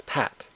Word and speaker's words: PAT: I'll pronounce the acronym PAT as PAT.